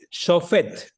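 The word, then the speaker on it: שופט: Shofet.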